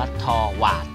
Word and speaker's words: Torvald: ครับ ว นะ ทว ทว อ่ะ ต้อง อ่าน ว่า ทวา นะ ครับ ทวา นะ